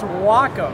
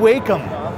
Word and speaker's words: Wacom: has been a debate how do you say the name of your company well Robert it's Wacom Wacom I've always been saying wake it's Wacom and Wacom actually stands for